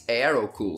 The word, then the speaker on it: Aerocool: I'm pronouncing it correctly at least in Portugal we pronounce it and who but in English I think it's aro cool so thanks Heroku thanks